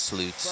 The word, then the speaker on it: Sloots: He's like, you can pronounce it any way you want, but it's Sloots.